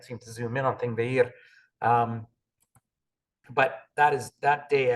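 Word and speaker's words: Þingvellir: Oh, here it is, Thingvellir. So they've pronounced it here with a th, but you'll see it written with a kind of a P and a line through it.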